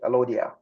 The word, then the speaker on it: Alodia: We call Alawa in Arabic. Alawa, Alodia in Greek. That's how it's being pronounced, Alodia.